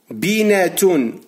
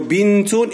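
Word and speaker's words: بنت: La respuesta es que con el fatha o el damma, el kasra, la letra N se va a pronunciar un poco pesada. Binatun en árabe es pesada por la lengua, ¿vale? Pero bintun es muy fácil, es más fácil, ¿vale?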